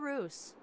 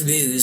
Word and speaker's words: ruse: that was all a Roose we can say still can be also that's not how you pronounce ruse we're about to restore